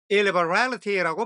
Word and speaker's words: illiberality: 역시 it 앞에 강세가 있어서 illiberality라고 발음이 됩니다.